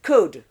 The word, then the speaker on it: could: There are two sounds we must not pronounce. The oo and the L sound are out. The oo is O. So COULD is could.